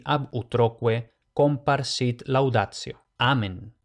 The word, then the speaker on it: amen: Amén. Y aquí, ojo, como habíamos dicho, en latín no hay palabras agudas, por tanto, amén, no amén, que si no me equivoco, en español es aguda porque en griego era aguda, pero en latín no.